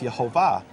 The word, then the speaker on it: Yehovah: And what that means is that the name is actually to be pronounced Yehovah.